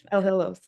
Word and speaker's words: Elhillo: Sorry, did I pronounce that right? Sorry. Elhillo. Elhillo, thank you.